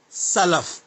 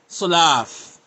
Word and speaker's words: Salaf: these words in Arabic, it is Salaf, Seen, letter Seen, Seen. Salaf, not Sulaaf.